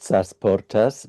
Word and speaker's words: Sasportas: Um, and that is pronounced Sasportas, but it is written with two E.